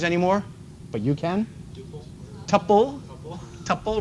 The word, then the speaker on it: tuple: Tuple rhymes with couple.